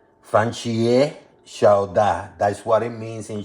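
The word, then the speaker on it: 番茄炒蛋: In Chinese, it's pronounced or it's known as fan chie xiao da. Fan chie xiao da.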